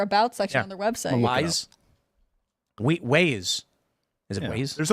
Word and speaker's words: Weis: Weiss Markets is pronounced wise, good sir.